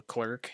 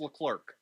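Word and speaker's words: Leclerc: or not the next time you say the clerk your job title is going to be Clerk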